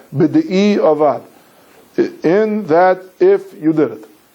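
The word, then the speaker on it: בדיעבד: If you did it, or what we call in common Mishnah Berurah lingo, b'di'evid. Right? B'di'evid is really a mispronunciation word of b'di'i avad.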